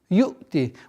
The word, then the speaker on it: يُؤْتِي: Вот здесь произношение звука хамзы должно быть такое, у ученых есть такое понятие отдаление от ошибочного произношения. Чтобы она не пришло до звука айн. Чтобы до звука айн не дошло. И все. Резкое удержание звука.